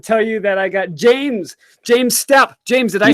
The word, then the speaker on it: James Stoup: And in this stream, I'm really proud to tell you that I got James Stoup.